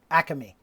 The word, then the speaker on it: Acme: store called acme and you have to pronounce it acame three syllables so you've got the